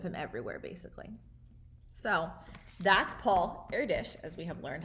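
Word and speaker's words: Paul Erdős: be pictures of him everywhere basically so that's paul airdish as we have learned how to pronounce and now you're gonna answer the questions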